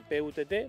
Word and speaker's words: putt: Se escribe P-U-T-T, pero se pronuncia putt.